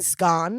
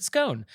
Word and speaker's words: scone: I asked the maid in dulcet tone to order me a buttered scone.